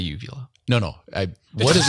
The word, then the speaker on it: uvula: all right so Ben I would also say uvila no no I what does it I like